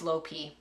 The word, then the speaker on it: lopi: plur Teo lurpee yeah I know the lopi is low P but this is from